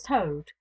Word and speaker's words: Tode: "Ay me, Sir Thomas Tode." He pronounced the word as though it had been the name of the foul beast that squats on its belly.